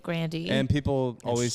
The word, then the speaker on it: Grande: actually and ariana grande grande is definitely correct but she pronounces it grandy and people always say